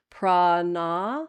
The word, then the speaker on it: prana: Yeah, so you see the line over the A? Uh-huh. That means it's long. Okay. So ah rather than Okay, so Yep. Prana.